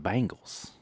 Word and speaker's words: Bengals: and Sam corrected me and they're like the Bangals I was like really or I thought they